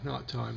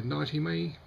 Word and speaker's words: Knightyme: nighttime uh it's OIC the opposite pronunciation of daytime even though the spelling is somewhat odd a lot of people will say nighty me and I'll accept that